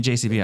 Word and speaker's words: JCB: But Jacob, do you want to give out your? My Instagram is _JCB Music MUSIC. It's pronounced Jacob, but people call me JCB. I don't mind that at all.